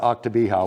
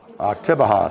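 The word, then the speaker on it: Oktibbeha: Because I was mispronouncing counties yesterday. So it's not Octobeha. What is it again? Octobeha.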